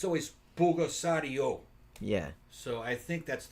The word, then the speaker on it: Pulgasari: Yeah, Pulgasario was good.